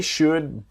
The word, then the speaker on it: should: able to help you so the l in should is silent they should be able